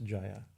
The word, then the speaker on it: Jayā: so you see so there's jaya in jaya right that long a here it's a long a this is a name of this is a group of devi names so jaya and jaya and vijaya right they're long as showing like shiva and shiva shiva mean is a